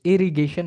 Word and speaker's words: irrigation: Satu irrigation, maaf teman irrigation sampan. Irrigation pakai G ya, bacanya bukan J ya.